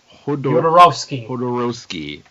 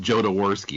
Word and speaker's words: Jodorowsky: Written by Alejandro Jodorowsky.